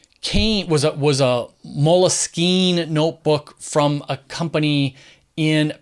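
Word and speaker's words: Moleskine: Paris France it was a French word Mullis keen just why I pronounce it Mullis keen but people suggest that the French took it from the word moleskin the English word meaning the instead of a leather-bound it was literally like the skin from moles oddly enough and to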